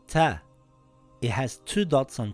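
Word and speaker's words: تاء: The next letter is called Ta. It has two dots on top and it is a light letter. In English, it sounds like a letter T, like in the word taxi or the word tank.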